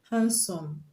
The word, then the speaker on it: handsome: So we have option A, handsome, B, marked, C, banked, and D, learned. So which one is the correct answer? Option A, handsome. Handsome, the D in handsome is silent, so we don't pronounce it.